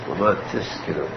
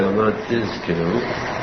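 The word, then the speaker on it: למען תזכרו: Pronounce the Zayin, because if you say it fast, it comes out Laman Tiskiru. Tiskiru is a bad word to use here. It should be Z and not S. So you say Laman Tiskiru, pronounce the Z, the Z there.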